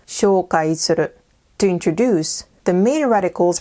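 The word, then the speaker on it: 紹介する: This word is pronounced shoukai suru, to introduce.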